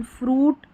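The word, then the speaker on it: fruit: फिर है नंबर 27 पर UI, इसको ऊ और यू दे रखा है, इसका उच्चारण फ्रूट, फ्रूट ऊ, सूट ऊ, तो ज़्यादातर ऊ का उच्चारण, ठीक है।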